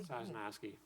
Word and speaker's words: Sosnowski: Okay, I'd like to nominate Sosnowski. Did I pronounce that correctly? Sosnowski. I was pretty close.